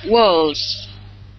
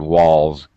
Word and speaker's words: walls: Walls. There you go. Good. Good pronunciation. Z pronunciation. L is a voice sound. Walls.